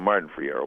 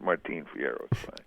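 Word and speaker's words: Martín Fierro: and we used to call him Martin for hero but Martine Fierro Mark I better pronunciation yeah well what I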